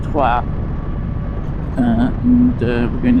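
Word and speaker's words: Troyes: We're actually going to meet up in a place called Tua, which is well, if you're English, it's spelled Troy's, but it's pronounced Tua.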